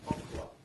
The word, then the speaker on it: Hockla: And also I'm going to write your name in Korean as it's pronounced. Hockla, right?